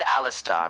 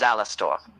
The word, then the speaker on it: Alastor: You said Alastar. My name is Alastor.